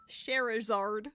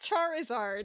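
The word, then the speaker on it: Scherazard: Sherazard. There we go. Not Charizard, it's Sherazard.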